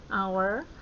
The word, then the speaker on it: hour: Nah, di sini karena hour ini membacanya hanya itu seperti huruf A, O, E, hour, maka kalau 1 jam itu bukan a hour tetapi an hour.